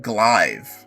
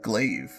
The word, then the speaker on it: glaive: Why is it not pronounced Glive, then? Why is it pronounced Glaive?